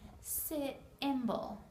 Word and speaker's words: symbol: buy a new computer the word symbol makes a the Y here makes a short I it simble here we have our